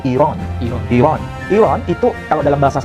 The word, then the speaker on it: Iran: Sedangkan istilah Iran sebetulnya yang tepat itu bukan Iran. Itu bahasa kita, bahasa Indonesia. Yang benar, cara pengucapan yang benar itu adalah Iran.